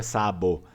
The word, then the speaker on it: sabo: A mesma coisa a palavra sábado em Vêneto é sabo, mas não é como se fala assim em português, sabo, limpinho, é sabo, sa, tá?